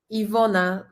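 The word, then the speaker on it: Iwona: like in Van yeah we had here on the screen Ivona is like letter V in English letter W in Polish is like letter V in English okay I will do more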